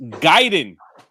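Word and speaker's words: Gaiden: fame of beating ninja giden using a keyboard and Jeremy it's pronounced Guiden didn't you see the way they pronounced it in the Wizard also emailed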